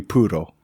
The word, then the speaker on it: Puro: I think it'd just be Puro. Puro. Okay. Yeah, Puro. I can't roll my R's.